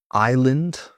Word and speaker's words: island: Silent s in island, island. We spent a week on a tropical island.